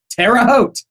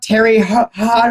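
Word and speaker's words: Terre Haute: the to the West we have what is pronounced correctly Tera hot yeah that's right yeah but not Terry hot or anything like that no no it's pronounced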